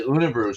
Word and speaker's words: Unibroue: The Unibrew stuff. If you find those, it's UNIBROUE, I believe. Okay. How they pronounce is how that's spelled. But they do very well with their Belgian products.